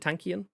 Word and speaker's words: Tankian: downs front man surge tankian is that you pronounce it tankian yep are you i've i've never actually known